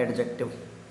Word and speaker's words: adjective: ज्यादा जानना चाहते हो तो डी साइलेंट होता है तो आप बोले एडजेक्टिव बोलते क्या बोलते एडजेक्टिव डी तो साइलेंट होता है लेकिन सब बोलते हैं तो कोई दिक्कत नहीं बोलने में क्या दिक्कत है सभी बोल तो बोलते रहो हालाकि डी साइलेंट होता है तो एडजेक्टिव इसका सही प्रोसन होता है ठीक है उसके